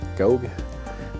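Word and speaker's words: Gough: written by Julian go I think his name is pronounced go uh his uh I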